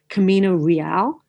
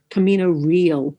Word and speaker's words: Camino Real: They've compared it to Camino Real Camino Real. That's how Williams wanted it pronounced.